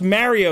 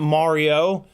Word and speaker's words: Mario: It's pronounced Mario, you fucks, not Mario.